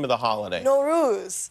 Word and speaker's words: Nowruz: year what is the name of the holiday no ruse no ruse how do you spell that it's many spellings but n-o-w-r-o-o-z oh one